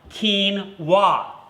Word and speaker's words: quinoa: Anyway, it's pronounced like quinoa.